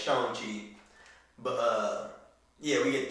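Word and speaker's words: Shang-Chi: we getting the shame that's how you pronounce it by the way it's not shang it's showing cheap but uh yeah we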